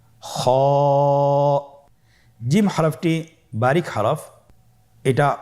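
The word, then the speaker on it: خاء: কিভাবে উচ্চারণ করতে হবে খ হরফটির মাখরাজ হল কন্ঠনালীর শেষ ভাগ হতে উচ্চারণ করতে হয়।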